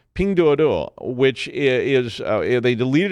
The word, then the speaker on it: Pinduoduo: app Pandora I got to say it correctly ping duodo which is uh they deleted it from the